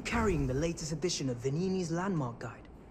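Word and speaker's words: Venigni: It's called Vanini. You don't pronounce the G.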